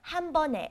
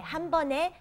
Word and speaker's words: 한 번에: Okay, 한 번 is one time 에, 한 번에. And you pronounce it 네, not 에, because of the 받침, the second consonant under 한 번. Okay, 한 번에 갈 수 있어요.